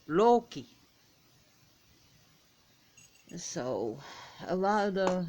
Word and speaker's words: Loki: Like if you look at Loki, it's actually Loki. You want emphasis on that O, Loki.